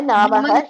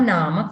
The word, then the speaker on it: nama: Mama Namaha Shamala. Mama Nama Shyamala. Nama only. Namaha na. There is no visarga there. It is Mama Nama Shyamala.